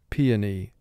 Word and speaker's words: peony: the p and e is a beautiful flower peony now for spelling pronounce it p o knee p two sounds